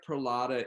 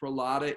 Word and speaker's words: Prahlada: said i'm here okay how do you say it one more time pulata yeah so it's really different